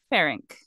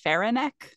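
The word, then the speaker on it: Ferenc: same way in everything it's f-e-r-e-n-c pharynx but in some documentaries I was watching they said faironek but there's no e between the n and the C and then others said pharynx so I'm going with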